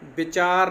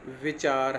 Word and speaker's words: विचार: हो रहा है कि व के उच्चारण में निचला होंठ ऊपर वाले दांतों के अगले हिस्से के पास जाता है और दोनों होंठ गोल हो जाते हैं, जबकि ब के उच्चारण में दोनों होंठ जुड़ जाते हैं। तो मैं इसके उदाहरण आपको देता हूँ आगे, आप देखो। जैसे विचार नहीं है, विचार है।